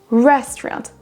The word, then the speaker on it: restaurant: La première syllabe là sera prononcée plus forte que les autres. Restaurant.